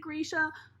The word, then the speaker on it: Grisha: wanted to do that or it's Grisha I don't know some people pronounce at different ways it's like potato photographer hi please don't come for me I know it's Grisha I know it's not potato potato I know it's Grisha I'm sorry I know Leigh bardugo pronounces it Grisha I'm just stupid okay